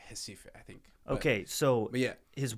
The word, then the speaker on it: Recife: It's because I think they pronounce the R's as like J's or H's, so it's like Recife, I think.